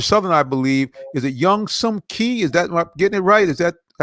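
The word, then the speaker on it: Younghoe Koo: That phonetically, it's young. It's spelled differently, but I had to learn to say it the right way. Okay, It's Young Wei Koo.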